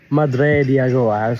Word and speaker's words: Madre de Agua: Madre de Agua. I'm pronouncing just like the native ones.